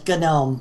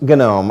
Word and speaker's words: GNOME: How do you pronounce it? I've always heard it as GNOME. GNOME.